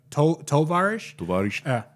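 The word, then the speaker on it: товарищ: It actually is spelled differently if you spell it out phonetically. But Tavarish has it's kind of sound. It's supposed to be with an O and a SCH. That's how you're like Tovarish.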